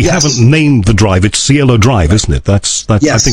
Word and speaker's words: Cielo Drive: this place we hasn't named the drive at Cielo Drive isn't it that's but yes that's how you pronounce that yes and it became internationally famous